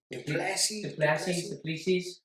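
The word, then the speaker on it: du Plessis: Duplessis.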